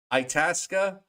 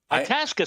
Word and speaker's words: Itasca: difficult well from Bannockburn to it it is Itasca Itasca sounds good yeah I know I I I